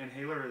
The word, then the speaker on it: N Haler: guys can get there because it's spelt a little a little differently but inhaler is a very large